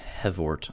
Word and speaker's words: HevORT: the platform is called the heavort i believe is how you say it basically um it's a hypercube evolution variant and then the guy who created just his initials ort so hev ort and so there's a